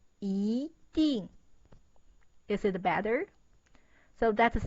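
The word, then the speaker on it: 一定: So when E meets fourth tone, that's the form. The first one, original pronunciation, is 一定. The sound is so bad. So it changed into 一定.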